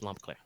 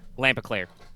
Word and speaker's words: Lampeclair: But yes, Lampeclair. You could also probably pronounce it Lampeclair, depending on how you want to do your accent, but I wrote it Lampeclair.